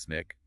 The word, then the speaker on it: SNCC: And in April 1960, the student non-violent coordinating committee, SNCC, pronounced SNICK, was formed.